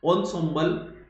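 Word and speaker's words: ensemble: उसमें से इंसेम्बल का मतलब होता है pronounce ऑनसोम्बल, things here instruments considered as a group, यानी 9 इकट्ठा, यूं कह सकते हैं कि इकट्ठा, है ना।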